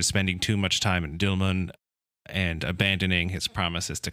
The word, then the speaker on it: Dilmun: traded out of Dilmun, which I may be mispronouncing, Dilmun, maybe? Yeah, U as in tube.